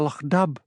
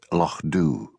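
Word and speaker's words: Lochdubh: What has happened to Lo Dub? She demanded. Lo, corrected Hamish gently. It's pronounced Lo Doo.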